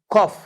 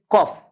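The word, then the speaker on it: cough: कॉफ, the correct pronunciation is कॉफ, कफ नहीं, कॉफ।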